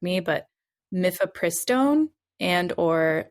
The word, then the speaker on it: mifepristone: And the zine is specifically for self-managing a medication abortion with, and I'm totally going to mispronounce these, so please correct me, but mifepristone and or misoprostol through the end of the 12th week of pregnancy.